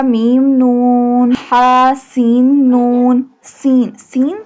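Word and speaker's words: سين: Sin. Sin pronounced like a whistle sound.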